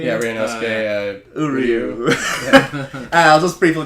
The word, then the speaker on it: Ryunosuke: You know, speaking of insane characters, we have, we just talked about how to pronounce this. Ryunosuke. Yeah, Ryunosuke.